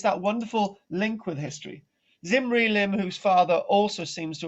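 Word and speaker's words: Zimri-Lim: Zimri Lim is pronounced Zimri Lim, and he married a princess from the kingdom of Yamad.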